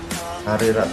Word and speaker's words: Narirat: Is it Narerat or Narirat? She's from Thailand. I think more is like Narirat. Narirat, okay. Narirat, yeah.